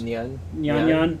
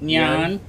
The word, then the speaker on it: Nyan: Nyan. Nyan. Nyan. Nyan Nuevo. Or Nuevo. Nuevo. Which you remember from viral news a few years ago, but Nyan Nuevo has some serious problems.